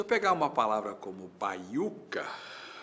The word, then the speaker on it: baiuca: Com ou sem s na sílaba. Se eu pegar uma palavra como baiuca, baiuca, no papel, na separação silábica eu vou ter bai u k.